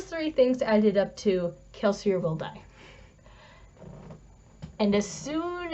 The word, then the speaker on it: Kelsier: foreshadows and those three things added up to kelsier will die and as soon as that other execution started i was like this is where kelsey is going to there's a caveat i thought